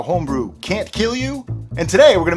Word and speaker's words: kilju: of people might say kill jew okay it's k-i-l-j-u as you can see right here but it's actually pronounced kill you which is kind of